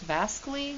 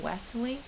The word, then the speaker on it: Wassily: is vasel kensy it's spelled VA or it's pronounced vasy not westle because he is a Russian and he's from